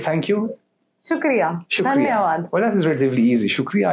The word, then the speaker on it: dhanyavad: Dhanyavad. Dhanyavad.